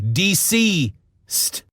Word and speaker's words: DCeased: It's DCeased, but it's spelled DC, both caps, E-A-S-E-D. DCeased. DCeased.